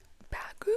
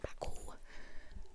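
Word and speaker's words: Baggu: This is one of those, like, it's not actually even the Uniqlo bag, but Bagoo. Oh my god, why did I say it like that? Bagoo.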